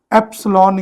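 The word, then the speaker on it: epsilon: इसको लिखने के लिए हम एप्सिलॉन इंग्लिश में बोलेंगे, स्पेलिंग है EPSLON, एप्सिलॉन, और इसके लिए सिंबल है ये।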